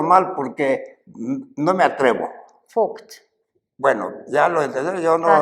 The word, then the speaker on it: Vogt: Porque no quiero pronunciarlo mal porque no me atrevo. Vogt.